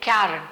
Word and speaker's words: Karren: collectively known as cairn, which can be pronounced, I'll just spell it, it's called Karren, cairn.